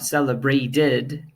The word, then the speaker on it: celebrated: have the D sound and then we have celebrated and wanted that have the e D sound I D sound right so we can